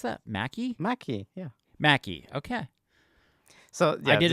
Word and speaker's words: Maccy: And how do you pronounce that? Maccy? Maccy.